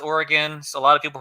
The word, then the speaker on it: Origen: Origen, I think it's pronounced Oregon. So a lot of people pronounce it Origen. I'm not sure it matters. Origen is the most natural to an English speaker.